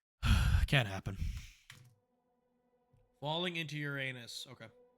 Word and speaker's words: Uranus: the planet yet you're saying it wrong it's Uranus that's I'm not saying it wrong there's one